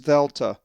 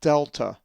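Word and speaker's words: δέλτα: The fourth letter of the Greek alphabet is the upper and lowercase dheltah, not delta.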